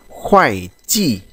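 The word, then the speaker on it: 会计: Từ tiếp theo chúng ta có từ khoai chi, chúng ta đọc nhanh này, chữ này đọc là chữ khoai chi, có nghĩa là kế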